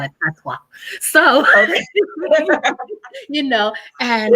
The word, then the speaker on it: patois: patois, we call it patois. Let's say it properly, but in Jamaica we call it patois.